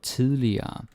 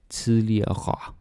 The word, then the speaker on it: tidligere: It was more common to pronounce the R's more clearly, like at the end. tidligere. Like if you're watching some older movies, you can expect to hear it like, yeah, tidligere.